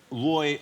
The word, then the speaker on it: Roy: And on the other side of the coin, would Roy Hodgson... Roy, let me correct that, pronounce that properly, because I was trying so hard to get the R in Roy that I messed up.